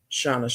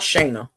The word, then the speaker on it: Shauna: you might not do Shauna's channel. However you pronounce it. It's not Shayna.